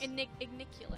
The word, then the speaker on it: Igniculus: Igniculus. Yes, Igniculus. Okay. Yeah. But yeah, so it's much more efficient to use her heal than to use Igniculus.